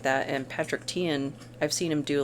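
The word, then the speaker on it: Teahan: I was saying Tihan. It's Tian. They both have good rundowns on different techniques, like communication techniques and things like that. And Patrick Tian, I've seen him do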